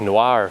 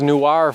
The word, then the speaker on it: noir: brutal like noir films Noir he you know those newr films newr is a different word no French person in the world would know what newr is anyway that's pronunciation so